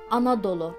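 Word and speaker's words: Anadolu: explain to you how we say Anatolia we pronounce it as anodolo in Turkish it means full of mothers just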